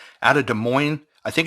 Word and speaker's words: Des Moines: could say out of Des Moines I think it's Des Moines Iowa I think the S is silent I may be wrong